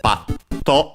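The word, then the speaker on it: ぱっと: the to in hiragana, is accented on the pa.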